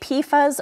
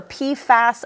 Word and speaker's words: PFAS: to pronounce it now you may have heard us say pasas or pasas a few different ways really depends on what part of the world you are in both of those pronunciations are okay so we're hearing here